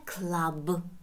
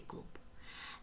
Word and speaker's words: club: A club, доктор. Club, не клуб.